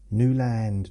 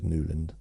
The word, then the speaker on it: Newland: Which is weird that I actually pronounce my name New Land now because obviously back then it was Newand.